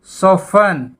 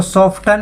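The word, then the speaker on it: soften: उसके बाद सोफन, सोफन, सोफन, यहाँ टी साइलेंट है। सोफन होता है कोमल होना, कोमल। इसको सॉफ्टन नहीं बोलेंगे, सोफन बोलेंगे।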